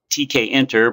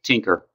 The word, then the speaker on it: Tkinter: in Python that is should be called TK enter but commonly mispronounced tinker tinker is based on